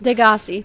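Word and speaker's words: Degasi: Degassi, that's how you Set pronounce Bart it.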